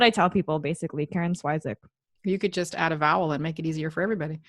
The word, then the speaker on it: Swyszcz: So if you want the actual way to pronounce it, it's pronounced Swyszcz. So it's like SV and then a soft ch at the end.